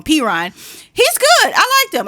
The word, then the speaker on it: Perine: So, and Samaje Perine, I always say his name wrong, Perine.